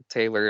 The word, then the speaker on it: Tehlor: Taylor, and Taylor is spelled Tehlor.